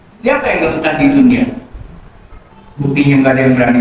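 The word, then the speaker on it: دنيا: Awas dia belajar tajwid jangan duya. Apa hukumnya dunia? Hukumnya idgham, betul. Tapi dibacanya nggak boleh idgham, dia dibacanya izhar. Dibacanya dunia, padahal mati ketemu ya, hukumnya apa? Idgham. Idgham kan idgham, tapi wajib dibaca izhar jadi dunia.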